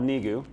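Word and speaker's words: NEGU: neiko organization I guess how do you say it Jesse Reese foundation nay goo I don't like to call it just uses it's called knee goo because Jess used to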